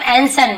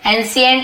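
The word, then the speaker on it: ancient: इन यानी में एंशिएंट, इसे हम क्या बोलते हैं, इसे हम एंसेंट बोलते हैं, एंसेंट। ठीक है, एंशिएंट ऐसे बहुत से लोग पढ़ते हैं, लेकिन एंसेंट एक्चुअल प्रोनाउंसिएशन है।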